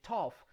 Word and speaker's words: tough: word like for example when you have gh at the end of a word and this produces a sound normally that sound is like the letter f like when you say